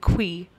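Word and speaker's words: khui: that's what it's called it's k-h-u-i and they pronounce it qui it's a very yeah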